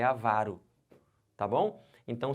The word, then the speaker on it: avaro: a pronúncia correta agora gravem agora comigo a pronúncia dessas paroxítonas já vão marcando assim ela vai aqui como é que fala isso avaro que que é avaro a vara pão duro